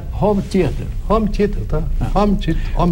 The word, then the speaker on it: home theater: Por favor, ensine o JK a pronunciar home theater. Home theater, tá? Home theater. Com o O fechado. Home theater.